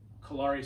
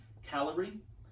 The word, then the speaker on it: Kalari: We say Kalari because it's easier to distinguish from calorie. Somebody who's more familiar with Sanskrit and other Indian languages, please correct me. Let me know how it's pronounced. But from what I've been told, it's calorie.